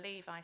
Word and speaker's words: LEVI: and my apologies for mispronouncing the acronym Levi not Levy there we go it